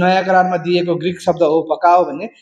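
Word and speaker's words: ὑπακοή: नयाँ करारमा आज्ञा पालनको निम्ति चाहिँ हुपकाओ भन्ने शब्द दिएको छ, HUPAKOE। म चाहिँ यसलाई हुपकाओ भन्छु, तपाईँलाई जस्तो उच्चारण सजिलो लाग्छ त्यही भन्नुहोस् है त, HUPAKOE उपकाओ, जसको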